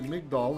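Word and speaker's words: מגדל: He says a tower, that's a migdal in Hebrew, or migdol depending on pronunciation.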